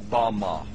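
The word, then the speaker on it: במה: which Satan fell is Strong's Hebrew word 1116 pronounced Bama Bama is most commonly used to refer to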